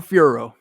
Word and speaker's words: Fiorot: But that's, if you want to say it the American way, nobody can get mad at you. That's how you say it.